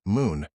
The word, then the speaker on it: MXXN: The mixologist MXXN for the strict non-drinker who appreciates the craft of mixology MXXN pronounced moon provides a sophisticated alternative in the form of non-alcoholic THC infused spirits.